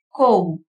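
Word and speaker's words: comb: Letter B எப்பெல்லாம் சைலண்டா வரும்னா வார்த்தையோட கடைசியில பி வந்து எம்மோட சேர்ந்து வரும்போது பி வந்து சைலண்ட் லெட்டரா இருக்குது. கோம், பாம், தம், நம், லிம் இந்த மாதிரி வார்த்தையோட கடைசியில பி எம்மோட சேர்ந்து வரும்போது சைலண்டா வரும்.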